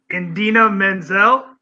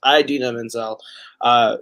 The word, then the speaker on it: Idina Menzel: okay, let me make sure I pronounce this correctly. Indina Menzel?